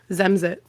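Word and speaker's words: zemřít: Zemzit.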